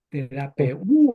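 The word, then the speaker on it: θεραπεύω: español terapeu terape terapeu terapeu acuérdense que tiene acento en la u si no no terap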